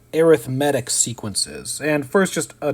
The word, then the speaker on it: arithmetic: like the word arithmetic it's spelled the same way as arithmetic but one is used in this way as a descriptor for sequences in series we call them arithmetic so that's a pronunciation thing arithmetic sequences an arithmetic